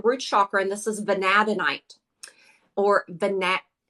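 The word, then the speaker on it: vanadinite: chakra and this is vanadonite or the net people call it or pronounce it different ways I always say banadenite and I freaking love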